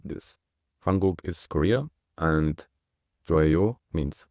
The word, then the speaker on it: 한국: Here you can see the Korean word for Korea, which is Hanguk, and you can clearly see the separation between the two syllables. The first syllable is Han, and the second syllable is Guk, because you always have